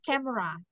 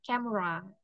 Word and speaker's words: camera: Nah, tadi di kata camera nih biar lebih keren kita baca camera. Jadi, E-nya jangan dibaca camera gitu ya, Teman-teman.